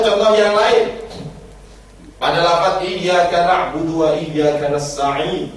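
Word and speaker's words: إياك: Atau contoh yang lain, pada lafaz iyyaka na'budu wa iyyaka nasta'in, di situ iyyaka itu ada tasydidnya. Tasydid itu cara bacanya harus ditekan, wong double.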